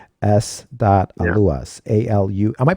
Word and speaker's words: Aluas: Aluas. A-L-U. Am I pronouncing that right? I've been pronouncing your name, but Aluas, is that correct, or is it Aluas? No, it's Aluas. Ah, I apologize. I've been pronouncing that the whole time, No.